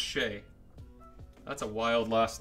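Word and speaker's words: Skjei: a little streaky orange neon nice card though Shay is how you pronounce that dudes last name SK jei who the hell would ever think that's pronounced Shay that's a wild last name alright baits first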